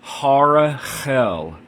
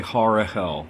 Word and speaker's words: Harahel: there instead of the second H so the pronunciation is Harel so the second H in Harel um is